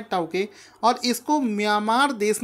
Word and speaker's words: Tauktae: दोस्तों, इस चक्रवात का नाम है टाउते। हिंदी में आपको बताता हूँ, इस चक्रवात का नाम रखा गया है टाउते। ठीक है, इंग्लिश में आप इसका स्पेलिंग देखेंगे TAUKTAE। तो इस चक्रवात का नाम है टाउके, और इसको म्यांमार देश ने इसका नाम दिया